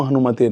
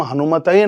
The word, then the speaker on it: हनुमते: बहुत लोग इसको ओम हनुमान ओम हम हनुमतेय नमः बोल देते हैं तो ये मिस्टेक हो जाती है। गलत हो गलत हो जाता है। सही उच्चारण बहुत जरूरी है।